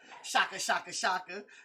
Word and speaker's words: Shouka: Shouka. They asked me, how do you pronounce his name? I said, do you know who Shaka Zulu is?